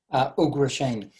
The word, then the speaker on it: Ugrasena: How do you pronounce this, Maharaj? Ugrasena.